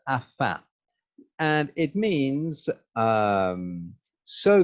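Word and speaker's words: afin: shark fin or a dolphin finn but it's pronounced afa and it means um so that or in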